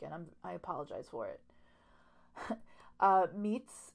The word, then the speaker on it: Miet: Meet's name is spelled M-I-E-T, but again, pronounced Meet.